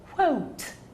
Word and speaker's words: quote: word see that word it's pronounced quote quote okay so you quote from a book you don't quote from a book see that word that is coat that's something that you wear so don't say a